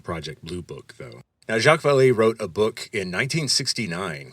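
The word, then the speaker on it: Jacques Vallée: and then of course since it's French a final E that you don't actually pronounce.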